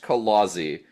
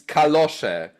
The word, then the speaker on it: kalosze: term for such items is not pronounced kalozy. I'm it's kalosze.